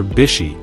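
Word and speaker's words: 菱: japanese automaker in japanese hishi or bishi as it is pronounced in this context means water chestnut which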